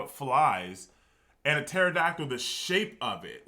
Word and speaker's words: pterodactyl: Basically, what I'm saying is, I do believe the pterodactyl doesn't make any sense to me. Like, there's just certain animals that don't make any sense. I know it's spelled with a P.